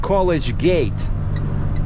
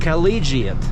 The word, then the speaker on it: collegiate: So it's not College Gate, it's one word, collegiate, you know, like collegiate institute, but it's collegiate.